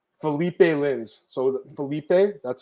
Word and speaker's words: Philipe: I can listen to the pronunciations. Let me hear this, Marcel. All right, let's see. Cutelaba. Philipe Lins.